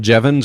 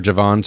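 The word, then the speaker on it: Jevons: yes and no so it's called jevans or javon's Paradox depending on where you're from and how you pronounce it but this idea that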